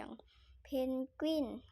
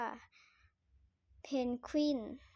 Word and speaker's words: เพนกวิน: พูด ผิด บ่อย ๆ อย่าง เพนกวิน ก็ ดัน ไป บาง ที ก็ เผลอ ไป เรียก ว่า เพนวิน ที่ ไม่ ใช่ เพนกวน การ ออก เสียง แต่